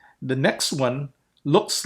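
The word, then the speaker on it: ω: It has this sound. O. O. It's a long O sound. O. As in cone.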